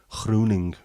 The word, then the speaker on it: Groening: I also don't like the fella who invented The Simpsons, Groening, which I would always look at as a Dutch name, as Groening, the Dutch version of greening.